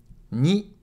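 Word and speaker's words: に: Ni. Ni is pronounced like ni in needle.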